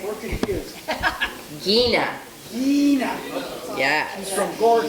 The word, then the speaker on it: Gina: How do you pronounce the first name? We're confused. Gina.